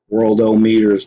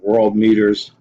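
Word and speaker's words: Worldometers: worldö meters dot info it's the word world with the letter O and then the word meters so world o meters dot info or world meters Don info is some pronounce it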